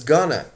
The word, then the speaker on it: going to: And as you may hear it on the streets, sometimes going to in spoken English is often pronounced as gonna.